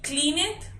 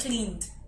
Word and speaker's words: cleaned: Tienen que poner mucha atención porque muchas veces ustedes dicen yelled y cleaned, pero no. Yelled and cleaned.